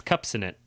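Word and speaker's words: Kupcinet: that this one's actually pretty interesting and it's cups in it that's how you say her name so Karen cups in it was an American stage actress and that's K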